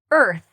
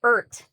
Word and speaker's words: earth: earth, earth. A lot of students will say ert, but that sounds like something else. So earth.